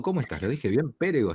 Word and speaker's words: Pérego: Pérego, ¿está el acento en la D? Pérego, sí, con acento en la primera E.